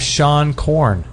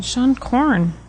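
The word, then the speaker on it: Seane Corn: nice hey they have Shan corn is that how you say her name oh yeah the yoga Shan Korn Shan corn s e a n e that's right she's got the world's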